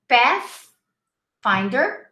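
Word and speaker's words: Pathfinder: stop big map finder path finder make sure you pronounce the th you're in other words your lips have to stick out from your teeth so you say fast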